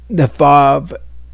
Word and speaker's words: Vav: Now, we have good indication that the Vav is pronounced with a V sound.